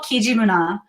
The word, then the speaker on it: Kijimuna: Andrea, tell us a little bit about where we can find your help me pronounce it. I want to make sure I'm saying it right. Okay, it's called Kijimuna.